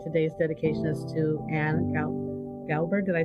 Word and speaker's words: Glauber: And today's dedication is to Anne Glauber. Did I say her name correctly? Glauber.